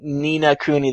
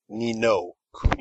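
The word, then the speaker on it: Ni no Kuni: Nina Kuni that I'm playing on PS3. Nino Kuni.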